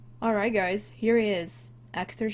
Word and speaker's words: Axtar: Axtar Shepard. It's how I choose to pronounce this. It is Persian for star.